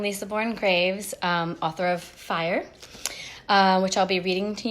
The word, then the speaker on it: Fyr: the inspiration for fire which it is pronounced as fire I kind of modernized